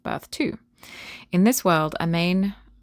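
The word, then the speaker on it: Amane: In this world, Amain, I think that's how you pronounce it, A M A N E. Amain is born via old-fashioned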